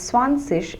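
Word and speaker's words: zwanzig: sish is suffix so this G forms part of an IG suffix and hence this would be pronounced as ish which means I in English so this is pronounced as ish so swans sish some people also pronounce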